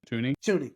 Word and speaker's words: Thuney: Tooney? Yeah, Tooney, not Thuney. The H is silent.